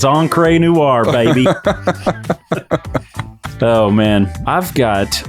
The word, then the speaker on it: Encre Noire: Because I think it's like French or something. It's like Encre. Oh, okay. No. It's like Encre Noire. But in East Texas, it's Encre Noire, baby.